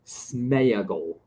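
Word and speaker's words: Sméagol: much too strong for the mean soul of Smeagol that's how you properly say his name but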